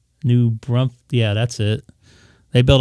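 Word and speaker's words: New Braunfels: know my San Antonio my cousins live in new Brussels I don't know how to pronounce it they said it got cooled off overnight Selma that's my mom's name new brunt yeah that's it they built a house there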